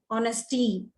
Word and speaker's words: honesty: honestly honest today now honesty h is silent honest and honestly honest